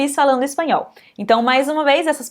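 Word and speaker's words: español: é parte de comigo espanhol perfeito então em espanhol esse l ele sempre vai ter esse som não importa a posição dele é mas se você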